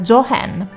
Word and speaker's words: Joan: ballerina è comparsa lascia il campo alla futura star del cinema, Joan Crawford, che secondo il volere dell'attrice avrebbe dovuto essere pronunciato come Jo Hen.